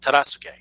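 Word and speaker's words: Tadasuke: Terasuke.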